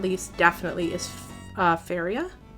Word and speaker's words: Faria: And last game, but not least, definitely is Faria. Or Faria, rhymes with Daria.